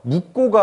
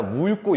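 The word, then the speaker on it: 묽고: 그 다음 이 친구도요, 묵고가 아니라 물고 이렇게 읽으셔야 돼요.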